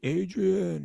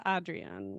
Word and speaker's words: Adrian: Apparently, it's not like Rocky Adrian. It's not like that. Yeah, it's Adrian or something more like that.